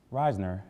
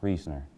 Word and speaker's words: Reisner: the truth welcome back Reisner as many students call it it's actually pronounced reasoner reasoner is one of